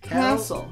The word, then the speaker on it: castle: But the T is silent, so cast. It just makes a castle. Castle. Castle.